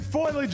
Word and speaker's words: foliage: Foliage. Okay. Is it foliage or foliage? It's foliage. Foliage. It's 3 syllables.